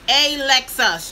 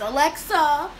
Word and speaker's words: Alexus: saying her name wrong her name is Alexus just like the car Alexus they call her everything in the book goodness Alexa Alexis they spell my name